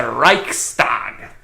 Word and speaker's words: Reichstag: figured it out already which actually I have mispronounced that is actually the Swedish version Derek's dad it's that Reichstag because Swedish German very close language yeah so we all